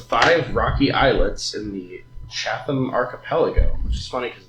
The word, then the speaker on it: Chatham: Um, the stars are a group of five rocky eyelets in the Chatham archipelago, which is funny cuz the street pronounced Chattam. Yeah. Yeah. Chatam.